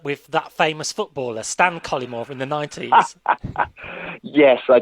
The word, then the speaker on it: Cullimore: Stan Cullimore. That's it. I stress the first syllable, Cullimore, and I like the way you sort of stress the first and the third syllables.